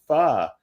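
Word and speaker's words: phở: oh yeah I tried Foe and this person actually what I don't know whether she was Chinese or Vietnamese or whatever but she said it's actually pronounced fa it's not pronounced foe it's pronounced and and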